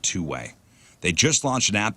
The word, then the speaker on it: 2WAI: It's 2WAI. It's pronounced Two Way.